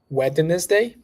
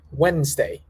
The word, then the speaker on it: Wednesday: it's going to be Wednesday Wednesday Wednesday all right repeat after me Wednesday Wednesday you cut the letter D there you don't pronounce the d becomes Wednesday I talk